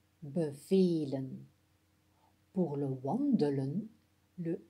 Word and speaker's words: bevelen: Pour bevelen, le E en jaune se prononce E. Bevelen, ce qui est un son long.